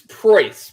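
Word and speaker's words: Preuss: what is it uh it is price p-r-e-u-s-s you would never pronounce it if you saw it yeah i could oh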